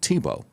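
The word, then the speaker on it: Thibault: It's French and they pronounce it TBO. Timothy Thibo, the anti-Trump agent of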